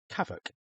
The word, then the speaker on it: CAVOK: The visibility, weather, and cloud sections can all be replaced with the single word kavoc, pronounced ca.